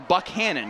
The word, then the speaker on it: Buchanan: school football producer, that he pronounces his name Buckhannon, even though it does look like what you'd expect to be Buchanan. It's the way the president, James Buchanan, pronounced his name.